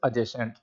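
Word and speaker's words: adjacent: एक नोटिस लेंगे कि अगर कोई भी वर्ड उसके अंदर एडीजे, ये 3 लेटर्स का कॉम्बिनेशन आपको मिलता है, तो डी वहाँ पे साइलेंट हो जाता है। तो इसे क्या बोलते हैं हम? एडजॉइनिंग। अगर हम ADJECENT की बात करें, तो द वर्ड इज़ एडजेसेंट। तो जहाँ भी एडीजे आता है, उसमें आपको क्या करना होता है? डी को साइलेंट करना होता है।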